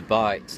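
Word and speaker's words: bight: So we start off with a bite like that. It's a loop, but in nautical terms we call that a bite, which is spelled B-I-G-H-T.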